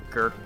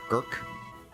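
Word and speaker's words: Gercke: Sounds like Gurk or Gurk. It does. I guess it depends on the nationality. Yeah, Gurk. Are you like Gurka or something like that?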